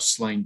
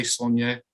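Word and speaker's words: Sláine: jumping between the two i will try and say sonja i really will how do you pronounce it um well i i you know i started off calling it slain because i didn't really think about the accent and it was only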